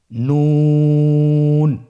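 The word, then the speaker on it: ن: আপনারা জিব্বার আগাটা তার বরাবর উপরে তালের সঙ্গে লাগিয়ে উচ্চারণ করুন এবং আমার সাথে বলুন নুন। আবার বলুন নুন।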